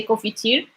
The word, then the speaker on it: confiture: We don't really pronounce the N. We just like most of Moroccans say confiture, and we will like